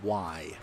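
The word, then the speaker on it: wye: It's called a Y for those of you that are familiar, and it's spelled, I believe, W-Y-E.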